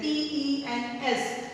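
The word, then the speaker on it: tenths: Because ones is there, here tens is there, T-E-N-S. But here T-E-N-T-H-S. It is pronounced as tens.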